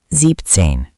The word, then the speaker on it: siebzehn: Same idea. Sieben shortens to sieb. Siebzehn.